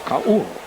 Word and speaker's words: Ka'ua: We look in the press guide and into all of the other releases, and Ka'ua is pronounced at least 3 different ways, but the correct way, the Hawaiian way, is Ka'ua.